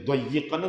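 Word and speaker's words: ضَيِّقًا: Qara al-aksarun bitasdid, kebanyakan para ahli baca Quran, ulama ahli Quran membacanya dayyiqan dengan tasdid, dayyiq. Kalau Ibnu Katsir membacanya doikon, doikon.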